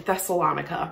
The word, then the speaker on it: Thessalonica: to the church in thessalonica rhymes with harmonica and we are learning